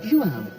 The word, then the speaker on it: João: take in Rio and to meet his guide, João, an expert in all things Brazil, whose dad was a famous footballer. What's that name? Nice meeting you. Nice to meet you. I'm João.